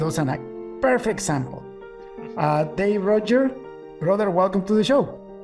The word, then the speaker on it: Ruedger: So my name is Dave Ruedger. And I've been in the industry for quite a while now. So, for those who know me, that's the preferred pronunciation.